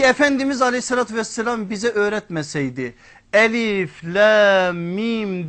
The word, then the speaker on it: Elif Lam Mim: aleyhissalatu vesselam bize öğretmeseydi Elif Lam Mim diye okunuşu Biz ne okurduk Elem der giderdik okunu şu bile o